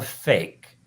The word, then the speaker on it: PHEIC: The WHO can declare, get this, a fake public health emergency of international concern, PHEIC, pronounced 6 fake.